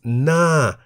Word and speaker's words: หน้า: Ho Heb is silent in this case, so the word is pronounced Na in the falling tone.